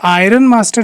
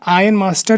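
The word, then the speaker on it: ironmaster: इसे आप आयरन मास्टर मत बोलिएगा, आयन मास्टर ही बोलिएगा, ठीक है. सो I hope you are listening to my pronunciation.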